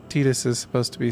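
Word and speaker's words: Tidus: in Kingdom Hearts 2, someone says it like Titus. So, which is it? It is technically Tetus. It's just like Aith is pronounced Aith even though in the PS1 localization she was called it was spelled AIS.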